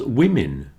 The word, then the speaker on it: women: As does women. Business, women. You see that all those vowels sound like I's.